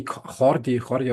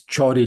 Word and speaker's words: Jordi: but in the Northeast we speak Catalan, and my name doesn't. So we don't have the Oh, pronunciation. It's really? more similar to the French somehow. Yeah, Is this such a huge difference, Catalan and I think it's Castellano, isn't it? yeah, The Catalan Castellano. Yeah, it is a different language. Yeah, it is a different language. Yeah, yeah, yeah. so it's Jordi, like the English pronunciation.